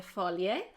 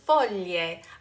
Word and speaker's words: foglie: The next one has to do with the words voglie and foglie. Again, be careful not to add an extra vowel in there, volie and folie, but rather there's this beautiful glide, voglie, foglie.